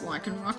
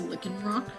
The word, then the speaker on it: Lycanroc: You and your brothers used to pronounce Lycanroc as a Lickenrock.